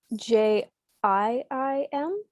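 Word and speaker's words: Jiim: It's spelled J-I-I-M. Jim? Yes, that's right.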